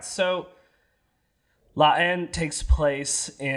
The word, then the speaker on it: La Haine: La Haine. La Haine. It's spelled Haine.